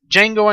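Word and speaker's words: Django: Jango Unchained yes D Jango unchain D is silent go see it if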